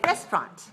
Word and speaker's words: restaurant: get rid of it just say restaurant restaurant okay two syllables stress the first restaurant you just have to remember to spell the letters in there but don't pronounce all of them okay how about this